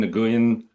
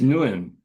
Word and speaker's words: Nguyen: Uh, actually, uh, you don't pronounce the G. Oh, which is Nuin. Something like that. It's Newin.